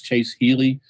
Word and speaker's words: Ealey: I called you Easley. It's Chase Ealey.